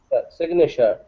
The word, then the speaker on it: signature: uh the column number a signature yeah allows it without g without glasses g uh if you speak quickly sure uh but it's there it's just a little bit quiet signature signature we can